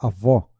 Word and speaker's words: avó: A palavra avó tem som aberto na última sílaba? Correto, né? Avó, som aberto.